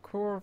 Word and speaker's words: Cora: Yeah, it's how you say her name. You think of Cora from the last Airbender. Oh, not last Airbender. The Legend of Korra.